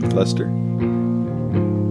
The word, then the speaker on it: Leicester: Leicester.